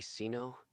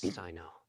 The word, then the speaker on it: Sino: name is Sino did you just call me Ceno sorry it's spelled weird I'm not eyes narrow at you my name is Sino see why oh that makes sense